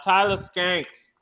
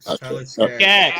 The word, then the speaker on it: Skaggs: By one of, I brought it up on Sunday that Tyler Skanks. I know I mispronounced. I know I butchered his name. Tyler Skaggs.